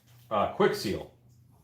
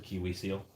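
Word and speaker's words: Kwik Seal: Quick Seal. Quick Seal, yes, I'm sorry. You know what's funny is almost everybody who does an EVA foam video talks about Quick Seal and they mispronounce it Kiwi Seal.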